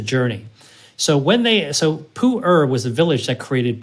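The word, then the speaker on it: Pu'er: can imagine is also a fermented tea called puer that's spelled p u apostrophe e r p r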